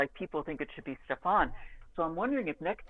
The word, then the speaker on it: Stefan: on for this series, the publisher gave me a list of pronunciations, and I asked for it, and it was Stefan, I was told to say.